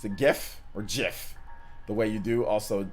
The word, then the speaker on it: GIF: times they are wrong it is a soft g pronounced jiff so yeah yeah so